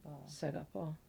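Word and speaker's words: σ'αγαπώ: is seapo oh SE seapo am I did I mispronounce it no you said it right seul is I love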